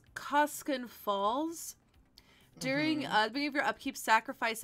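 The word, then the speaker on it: Koskun Falls: type it right uh it is pronounced koskinen falls during uh your upkeep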